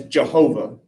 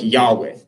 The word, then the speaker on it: Yahweh: So for a time scholars thought well you val and pronounce it as Jehovah. The vast majority of scholars believe that is incorrect now that it should pronounce something like Yahweh.